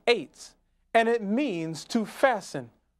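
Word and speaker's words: עץ: We documented that tree in Hebrew is ayin tesadi sofit, pronounced eights, and it means to fasten or make firm, that is, to close the eyes shut.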